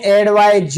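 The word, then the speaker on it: advise: main verb होती है उच्चारण का अंतर है एक को पढ़ते एड वायस और एक को पढ़ते एडवायज तो एडवा तो वर्ब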